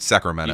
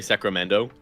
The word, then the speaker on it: Sacramento: Sacramento. You say Sacramento. Sacramento. So there's just no T there.